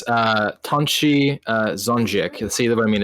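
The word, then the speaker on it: Tonči Zonjić: It's Tonchi Zonjik. See what I mean? It's really hard to pronounce for an American.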